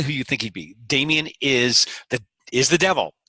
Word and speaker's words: Dameon: had an accent over the O so I pronounced it damn young Oh fancy schmancy right but nobody else pronounce